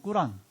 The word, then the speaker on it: 꾸란: 물론 뭐 필요하면 꾸란이라고 그래요. 원래 아랍어로 꾸란. 우리는 코란이라고 하는데 그냥 발음하듯이 거기 예수님 이야기가 있대요.